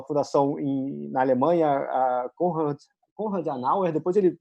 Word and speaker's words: Adenauer: num projeto numa fundação na Alemanha, a Konrad Adenauer, depois ele pronuncia corretamente esse nome. Konrad Adenauer, tá certo. Adenauer, mil perdões.